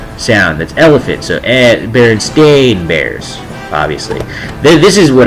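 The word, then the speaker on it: Berenstain: it was Baron uh he pronounced Baron Stein and the teacher corrected him Baron stain he just like like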